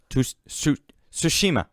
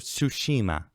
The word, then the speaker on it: Tsushima: Tsushima. I think you have to say it fast. You can't pronounce it all. Ghost of Tsushima.